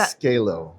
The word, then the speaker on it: Zcalo: Z Scalo. Scalo, but with a Z. Right. Very cool, very cool. And if you can please introduce yourself and your organization. I am with Scalo Inc.